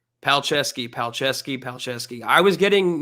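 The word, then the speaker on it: Palczewski: the Broncos media guide Alex pal Dash chess like you're playing chess Dash ski like let's go skiing Alex pal chess ski so fight me on it that's how you say his name according to the Denver Broncos paleski paleski paleski I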